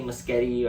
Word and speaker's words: Muschietti: and the performances are good direction by Andy musketti or that picture that's how you pronounce his name is good very well made